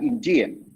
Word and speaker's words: India: Okay, same applies for India. It's not India. Not Indian. Okay, I'm Indian. I'm from India. India, up, down.